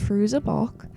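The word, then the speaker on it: Fairuza Balk: played by I believe her name is pronounced fruz a balk and I'm starting in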